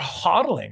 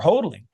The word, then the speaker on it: HODL: when people talk about huddling or hodling however you want to pronounce it insurance insurance it takes